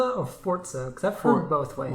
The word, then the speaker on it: Forza: literally, I played this morning Forza Horizon 3. No, is that pronounced Forza or Forza? Because I've heard both ways. Well, I say Forza because there's no T in it.